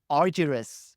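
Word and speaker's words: Argyris: other and communicating effectively now you mentioned Chris arus very good not many people manage to pronounce it right yes he he has had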